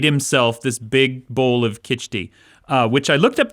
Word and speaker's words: khichdi: okay uh he made what's called i'm gonna pronounce this wrong kitchi okay it's uh like a porridge with like lentils and rice and he just stopped and like made himself this big bowl of khichdi uh which i looked up the recipe and